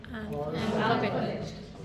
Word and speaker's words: alphabet: अल्फाबेट इसको क्या करते हैं मिसप्रोनाउंस, गलत स्ट्रेस कहाँ लगाते हैं? अल्फाबेट अल्फाबेट बोलते हैं ना, अल्फाबेट है ना, फा पे कर देते हैं. अल्फाबेट, इट्स अल्फाबेट.